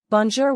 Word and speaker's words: bonjour: and Sh mixed together bonjour which means hello is pronounced bone zor J mapel means my